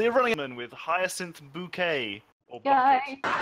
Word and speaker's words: Bouquet: So you're running in with Hyacinth Bouquet. Yay! It's pronounced bouquet.